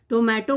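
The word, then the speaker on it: tomato: टोमेटो को लिखते टोमेटो है, बोलना टमेटो है।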